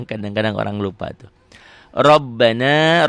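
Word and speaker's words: رَبَّنَا: Rabbana, ro-nya tebel, ba-nya double, na, matobi, la, matobi, tu'a.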